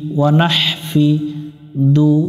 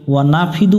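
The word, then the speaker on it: وَنَحْفِدُ: ওয়া নাফিদু পড়া যাবে না, যদি ওয়া নাফিদু পড়ি তাহলে হা অক্ষরটা উচ্চারণ হবে না, অক্ষর বাদ গেলে কিন্তু গুনাহ হয়ে যাবে।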